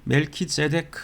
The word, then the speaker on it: 멜기세덱: 왕이라 이렇게 이야기를 하죠이 멜기세덱 하면이 세크라 하는 단어가 공의 의를 뜻합니다 멜키 하면 이렇게 통치한다 다스린다 이런 뜻이라서이 멜키 그니까 히브리어로 히브리 식으로 발음을 하자면 멜키제덱 하는이 단어가 의의 왕 또